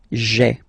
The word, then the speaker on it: j'ai: you get this sound j'ai, j'ai. Okay, so j apostrophe ai. Remember, when you combine this ai, you get the e sound.